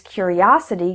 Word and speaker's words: curiosity: you before the S the word stress is also different he was a curious boy the strong syllable is cure his curiosity got him into trouble the strong syllable is us error number 141 is